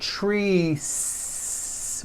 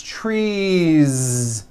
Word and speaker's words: trees: It's not trees with an unvoiced S. It's trees with that voiced ending.